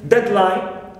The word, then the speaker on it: deadline: Also for closed compounds, noun compounds, we can mention deadline, we stress dead the first part.